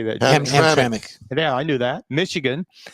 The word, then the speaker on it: Hamtramck: Hamtramck.